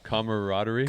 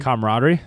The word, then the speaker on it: camaraderie: better how do you say that other word comaraderie camaraderie com say it again camaraderie yeah camarad I